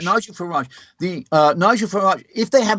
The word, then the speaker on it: Farage: Am I pronouncing Farage. Nigel Farage.